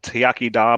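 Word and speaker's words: iechyd da: I will so there's great products so it's pronounced tiak da but it has so it's so it's about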